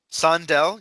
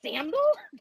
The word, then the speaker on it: Sandel: Sandel, yes. Sandel. Thank you. I'm like, Sandal? No. Well, And some co-authors.